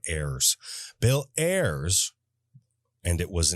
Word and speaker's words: Ayers: His name is spelled Ayers. So when you read it, you want to say Ayers like a frickin' pirate instead of heirs.